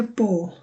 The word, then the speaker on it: på: তো যেখানে at ইংলিশে যেটা at on বলে, সুইডিশে আমরা এগুলো পো বলতেছি। আর আমরা শিখেছিলাম আগে এর উপরে যখন ডট থাকে এটাকে ওর মতো উচ্চারণ করা হয়, পো।